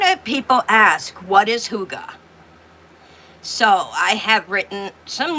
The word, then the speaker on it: hygge: Uh, but a lot of people ask what is huga? So, I have written some notes and it is a Danish word. It is a Danish word and it's pronounced huga.